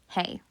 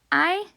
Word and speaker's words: hay: And yes, it is pronounced I, not hey. Okay? So you've heard it here. I should never hear it pronounced as hey.